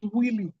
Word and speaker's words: Wylie: See also the case of Hines against Willie. Hines against Willie. We spell Hines as INNES. Hines against Willie. Willie is spelled WYLIE.